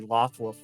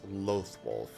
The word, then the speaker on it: Loathwolf: Maybe he just like teleports into like the Lothwolf world, sets the clothing down, and then comes back as the Also, I I realized I've been saying it wrong. Uh, it's loathwolf.